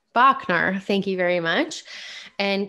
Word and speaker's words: Bachner: have with me kate and i'll have you pronounce her last name for me bachner bachner thank you very much and kate bachner has